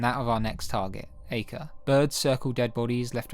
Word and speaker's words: Acre: and capture of acre it is pronounced acre right remove this stain from akka Altair oh akka I've been here in a car since the Crusaders were laying Siege ah I've always called it acre so I'm just going